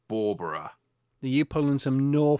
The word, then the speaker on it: Bawburgh: i'm feeling okay now the town is spelt b-a-w-b-u-r-g so i was very disappointed to learn that it was pronounced barbara and not a ballberg ballberg because it sort